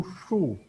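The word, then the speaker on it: 竖: Kalau tambah u, tadi kita bacanya shi u shu. Shu. Nada keempat pangkaian suaranya agak kencang aja.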